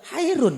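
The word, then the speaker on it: خير: Khairun bacanya Pak. Yang betul khairun.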